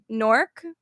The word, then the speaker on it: Newark: Newark or Newark? Newark. Thank you. Oh my god. It's not It's Newark. Newark. It's Newark. literally Newark. Newark. What? It's Newark. There's clearly 2 syllables.